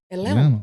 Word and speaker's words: Atlanta: actually from they and they don't even say Atlanta it's Atlant atanta Atlanta that's the uh young th yeah like that te is silent it's Atlanta so they let you